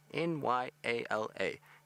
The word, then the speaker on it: Nyala: If you're in America, then you just need to remember New York and L.A. N-Y-A-L-A. And then you say Nyala.